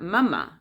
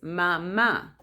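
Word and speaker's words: mamá: the last a um because the common english word is papa papa but in spanish it's not papa in spanish is papa or is not mama is mama because it has a little the little accent in the last a so mama the papa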